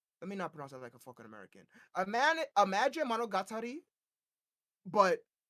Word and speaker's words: monogatari: game was that imagine monari let me not pronounce that like a American a man imagine monogatari but Rhythm right so you